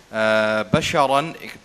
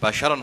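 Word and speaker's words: بشرا: আনতে হবে তেলাওয়াতের মধ্যে বাশারান এখানে যে শব্দটি তুমি উচ্চারণ করেছো এটি বাশারান হয়েছে বাশারা এটা হচ্ছে ফাসাহার খেলাফ অর্থাৎ এটি উচ্চারণ হবে বাশারা একটু দ্রুত একটু স্পিডের সাথে বাশারা হবে মিউর রুহি যে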